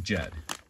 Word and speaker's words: Ged: But it's pronounced Jed. If you ever watch American television, you can watch the Beverly Hillbillies, and there's Uncle Jed, right? And then here is the way you would spell that out in IPA. This makes the J sound, ed.